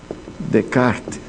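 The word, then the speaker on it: Descartes: da proposta de Renê Decart. É isso, né? Descart, Descart, mas com o S não pronuncia.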